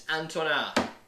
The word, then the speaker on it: Antona: In case you want to reference me vocally over the chat, it's Antona.